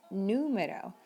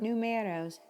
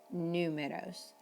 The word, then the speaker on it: número: When we need to emphasize, like the U in the word number in Spanish, it's important to emphasize that sound. Número, not numeros, números.